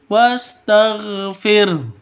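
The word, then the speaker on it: وَاسْتَغْفِرْ: Wastagfir tagfir. Jadi rnya rnya harus di ee rnya tipis. Wastagfir hunya sukun. Kenapa? Karena waqaf ya ini ha jangan dihilangkan fir h-nya jangan dihilang dihilangkan kita ulang sekali lagi.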